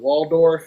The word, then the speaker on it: Waldorf: Now you're in Waldorf. Is that how you pronounce that?